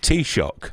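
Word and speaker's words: Taoiseach: you don't know i can't even pronounce too shaq tell sheik t-shock yes the irish prime minister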